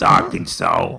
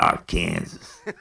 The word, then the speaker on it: Arkansas: a real town in Arkansas hey how's it going all right this is uh I I don't like the way you are messing with the name Arkansas is Arkansas not our Kansas yeah well you know